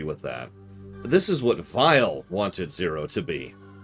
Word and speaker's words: Vile: gate you notice that i'm referring to him as vile with kind of a v sound there's two reasons for that one that's automatically how i pronounce that kind of a name in general and two that's a kind of a common thing because his original name in the japanese version is lord file with a v they renamed